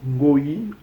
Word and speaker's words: ngoi: So moreover, the word Goi or Ngoi, we pronounce in Congo language Ngoi, Ngoi.